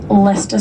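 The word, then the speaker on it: Leicester: pronunciation of English words things like Lester Square where there's just like a syllable missing from the pronunciation of it um but yeah the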